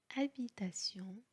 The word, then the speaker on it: habitation: الحرف H في الفرنسية هو حرف صامت لا ينطق أبدا. habitation, handicap, haricot, bonheur, trahison, inhabituel.